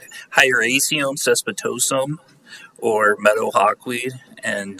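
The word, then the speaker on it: Hieracium caespitosum: us and and then tell us how to pronounce the uh Latin name of this weed yeah I'm here to talk about H highum cespitosum or Meadow Hawk weed and uh how we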